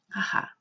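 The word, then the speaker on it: 母: 따라서 어미모자가 들어가 있는 여러 가지 단어들을 한번 살펴보면 먼저 어머니라고 하는 거 어미모자 한 글자만 쓰여 있으면 우리는 하하라고 읽습니다. 하하, 어머니란 뜻이 되겠고요.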